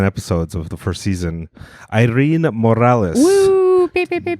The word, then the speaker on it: Irene: In Spanish, I just say Irene Morales. And yeah, Irene? Irene. That's how you say it in Spanish.